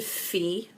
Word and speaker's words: Fe: crazy um I think the most common one is Felicia or Felicia or yeah it it's stupid I know but when it's not supposed to be pronounced that way it just